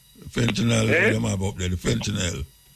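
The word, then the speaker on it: fentanyl: fentinel have up there fentinel that's how you pronounce fentinel fentinel man fentinel yes you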